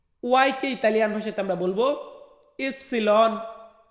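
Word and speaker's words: ipsilon: ওয়াইকে Italian ভাষাতে আমরা বলবো ইপসিলন, ইপসিলন মানে কি, মানে হচ্ছে ওয়াই।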